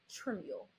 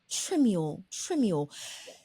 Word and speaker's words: Trimuel: Treasure, and she is I always get your last name wrong. I want to say Trimuel, but I pronounce it wrong. So it's Tamera Trimuel. Trimuel.